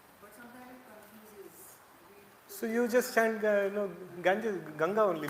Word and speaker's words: Ganga: And why we pronounce it Ganges, why not Ganga?